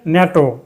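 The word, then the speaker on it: NATO: এখানে abbreviation N এটিও একটা শব্দরূপে ব্যবহৃত হয়েছে ন্যাটো। এখানে প্রত্যেকটি লেটার পৃথকভাবে উচ্চারিত হবে না এন এ টিও নয় ন্যাটো এই ন্যাটো উচ্চারণে প্রথমে ভায়ল সাউন্ড নেই সুতরাং এর পূর্বে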